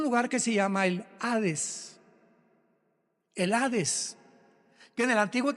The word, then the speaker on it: Hades: tradujo la palabra seol con hades, con h, que muchos dicen jades. Se puede pronunciar así porque es en el griego.